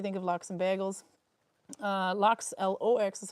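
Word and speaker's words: laks: L-A-K-S is how you spell lox, which is salmon, but it's pronounced just the same as L-O-X.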